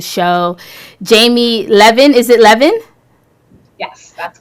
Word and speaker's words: Levin: It depends where you're from, how you say it. I get it from up north, and when I first got married, it was Levine, and so understand.